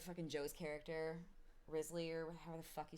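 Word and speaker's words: Wriothesley: Risley, I don't know how do you say. Is it Risley? Is that how they say it in the game? I just think calling him Risley is really funny because I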